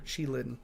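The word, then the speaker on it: qilin: maru a dog demon no it is a killin or chilin is the proper pronunciation sorry um you can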